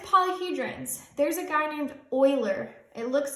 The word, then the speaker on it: Euler: All right, with polyhedrons, there's a guy named Euler. It looks like Euler, but you pronounce it pronounced like oil. Euler.